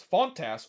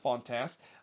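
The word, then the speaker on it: Fontàs: uh early on uh funtas or not funtas fontas would hits one uh right two two Clark there no they're they're very similar name but it's pronounced fontast uh but in the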